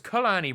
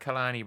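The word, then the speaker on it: Kalani: Oh, it's Khalani Brown, not Khani Brown.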